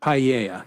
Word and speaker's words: paella: it's the rice and the fish and that's paella, the baked right? Paella.